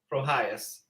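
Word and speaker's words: Proyas: Like, how do you spell it? Like pro It's- IAS? Yeah, it's HIAS. So it's Antonio Projas.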